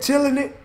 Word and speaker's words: Chillinit: the Australian man shouted chill chilling it that's how you say it chilling it shut out the body